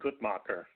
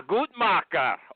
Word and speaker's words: Gutmacher: Gutmacher, am I saying your name right? Anything but nutcrackers is just fine. Okay, how do you say it? I go with the more German Gutmacher. Yeah, Gutmacher.